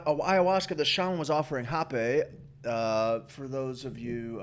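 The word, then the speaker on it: rapé: that shannon was offering hoppe uh for those of you uh wanting to do your own research on this it's spelt like rape with a little accent over e hoppe r-a-p-e uh a tobacco snuff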